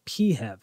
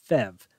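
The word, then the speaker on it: PHEV: because Engineers love acronyms it's called a peev sometimes pronounced fev Toyota calls this option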